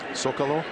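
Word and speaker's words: Zócalo: Sokolow. Is that with the S or is it? It's spelled with a Z, but we say it with an S now.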